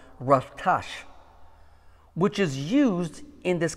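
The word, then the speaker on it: רצח: You know, the Hebrew word for this word, kill, is the word that is pronounced ratash, which is used in this commandment for the word murder.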